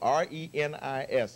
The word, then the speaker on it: Reni's: So if you ever get to Hawaii, it's spelled R-E-N-I-S.